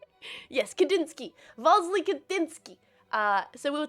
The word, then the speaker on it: Kandinsky: I'm making sure I'm pronouncing it right. Yes, Kandinsky.